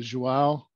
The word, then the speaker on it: João: and I you know I I hope I'm pronouncing your name right is it joao you need to be Portuguese to be able